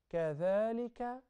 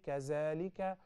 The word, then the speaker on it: كذلك: We have some letters where you must stick your tongue out when you pronounce them. Those letters are three. Zal, Tha, and Dha. Zal, to distinguish it from the Zai. So when you say, Kathalika, Kathalika, look at the